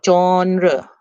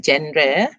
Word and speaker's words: genre: look at the word genre okay this is not pronounced gender it is genre genre